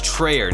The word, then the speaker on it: Treyer: That was Treyer, not Trade.